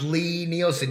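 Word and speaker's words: Lie-Nielsen: It is pronounced Lee Nielsen. I apologize. Well, that's all right, Bob. It is a common misconception, but people get really upset when you pronounce it wrong.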